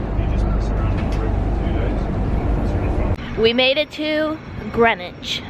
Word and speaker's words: Greenwich: we made it to grenwich spelled like green witch in The Maritime Museum